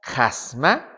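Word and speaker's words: χάσμα: Es la palabra jasma. Jasma. Esa palabra jasma que se pronuncia abriendo fuertemente la boca significa en griego varias cosas.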